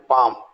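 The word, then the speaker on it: palm: ए एल F half P ए एल एम पाम और एस एल एमन तो सामन भी बोल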